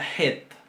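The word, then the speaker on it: ח: Después tenemos la het. La het. Esta letra, este sonido se va a pronunciar un poco más atrás que la G y es más fuerte.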